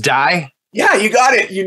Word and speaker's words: Dai: Well, the reason I pronounced it right, have you ever heard of Dai Vernon? Yeah, Dai Vernon.